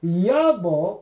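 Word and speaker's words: יבוא: Elijah, the Yod Bet Aleph, which is Bo, which means come, but Yavo or Yavo is the right way to pronounce that.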